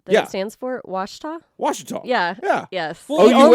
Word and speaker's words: Ouachita: Washita? Washita. Yeah. Yeah. Yes. Well, Only if you're from the South. OUACHITA. Yeah, OUACHITA. is Pronounced how it's spelled. Washita.